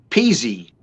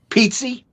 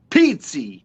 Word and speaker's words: Pizzi: my last name correctly peasy no pizzi yes an italian pizzi pizzi you're correct very very good that's very